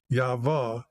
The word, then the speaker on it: Yahweh: I just got rid of the letters H, and I'm using the two letters YHVH, or if you pronounce those two letters that are in the Hebrew language, Yahweh, then you understand why they're trying to make all these other names up from them, Yahweh.